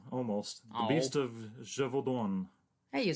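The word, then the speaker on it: Gévaudan: The Beast of Gevaudan.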